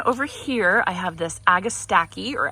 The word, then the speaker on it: Agastache: Then over here, I have this Agastache or Agastache. I looked up the pronunciation and it seems to be, the consensus is Agastache, but I saw both, both ways to pronounce it.